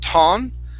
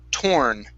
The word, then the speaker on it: torn: to the word torn give me a good R here instead of ton okay curve your tongue upwards when pronouncing that R it's Tor torn T all right very